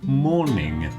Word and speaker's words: mourning: You are said to be in mourning. And the pronunciation is exactly the same as like morning, afternoon. That kind of morning. Same pronunciation, but it's got a letter u in it.